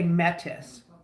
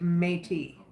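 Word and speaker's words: Métis: how you say it you can say metis but we say meate so that's our culture me Mei me but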